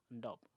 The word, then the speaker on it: Ndeup: healing ceremony they call Ndob. Ndob. Yes. Okay. It's spelled Ndeup. Okay. I don't know if it's French or it's pronounced Ndob.